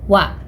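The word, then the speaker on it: は: Walaupun dia ditulis menggunakan H, dia tetap dibacanya wa.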